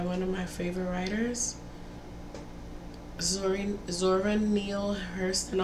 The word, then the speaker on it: Zora: of my favorite writers, Zora Neale Hurston. I always say her name wrong because I always want to say Nora. I don't know why. I knew somebody named Nora.